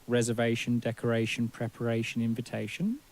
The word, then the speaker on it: invitation: preparation what about invitation invitation now you'll notice that the in on the front of invitation is not pronounced as a clear in in French although it's spelled in